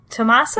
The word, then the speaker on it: Tommaso: How do we say his name? Tommaso? Yeah, Tommaso's right.